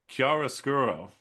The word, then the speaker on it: chiaroscuro: It's called chiaroscuro, which is Wow, he said it right.